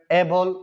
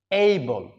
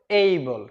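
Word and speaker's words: able: যেমন ধরেন এবল সক্ষম, অ্যাডজাস্ট সমন্বয় করা, অ্যাডজেক্টিভ বিশেষণ, তারপর আছে অ্যাডজার্ন মুলতবি করা স্থগিত করা, ওয়েডনেসডে বুধবার, উমেন নারী বা মহিলা।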